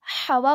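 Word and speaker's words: ح: उसके बाद क्या है, ये देखिए, इट is pronounced from the centre of the throat and the wind comes out of your mouth.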